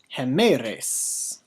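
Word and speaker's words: ἡμέραις: And you should have said something like hemeres. So we have a hem, a, with the acute accent, heme, res. Hemeres.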